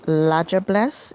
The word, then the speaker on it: La Diablesse: Today we're talking about the Infamous devil-woman, the La Diablesse, pronounced 'lah-jah-bless' even though it is derived from the French word 'diable' which means 'devil'.